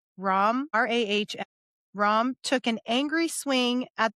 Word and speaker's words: Rahm: So maybe he thinks it's endearing, but his name is Ram. Ram, Rahm.